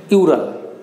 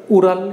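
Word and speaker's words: Ural: আছে, পর্বতটির নাম হচ্ছে ইউরাল, উরাল ইউরাল দুটোই নামে উচ্চারণ করা হয়।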